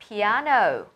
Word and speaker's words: piano: do exercise, play the piano, have breakfast. Nói về phát âm một chút nhé, mình có trọng âm của từ piano vào trọng âm thứ hai này, âm tiết thứ hai được nhấn nhé.